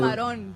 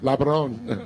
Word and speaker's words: camarón: Camarón. Labron. No, No? camarón. Camarón.